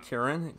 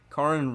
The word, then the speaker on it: Karin: Kirin. Karin. Karin Regiment.